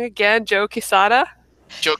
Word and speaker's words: Quesada: by Kevin Smith, and the art is done by, I'm going to say it wrong again, Joe Quesada. Joe It's Quesada. on. Yeah. Quesada.